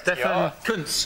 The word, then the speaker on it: Stefan Kuntz: Stefan Kuntz.